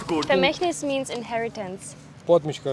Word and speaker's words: Vermächtnis: Vermächtnis ये फी होता है, F से स्टार्ट होता है, ये V से स्टार्ट हो रहा है। तो V हम प्रोनाउंस करते हैं। तो आप लोग गलत प्रोनाउंस कर रहे हो।